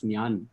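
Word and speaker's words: ഞാൻ: And I went to Vishak Abraham, who's Siddharth's classmate here, and said, "Have you watched Enjan Prakashan?" He's like, "No, that's Nyan.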